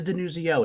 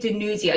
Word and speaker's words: DiNuzzo: You say the Z. DiNuzzo. You can't just casually say DiNuzzo.